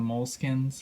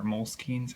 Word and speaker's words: Moleskine: little bit more than the moleskins or moleskines however you want to pronounce it there are a couple